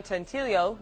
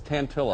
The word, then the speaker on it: Tantillo: John Tantillo. Is that how you say it? No, it's Tantillo.